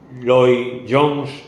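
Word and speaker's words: Lloyd-Jones: que lo habéis tenéis algún libro del Martín loi Jones bien Manuel así se pronuncia Martín loi Jones acerca de este salmo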